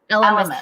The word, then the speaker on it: Elemis: Elemis.